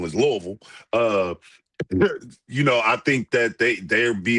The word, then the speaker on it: Louisville: Louisville, since Asia's saying we saying it wrong, is Louisville.